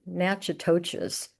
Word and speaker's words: Natchitoches: and museums in Baton Rouge, Thibodaux, Patterson, and Natchitoches. I hope I'm pronouncing it correctly.